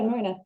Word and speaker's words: Mernagh: You didn't pronounce the G. Yeah, I would avoid the G.